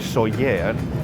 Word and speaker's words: Sóller: And that's because in Spanish, a double L sound makes something between a Y and a J, like a J, which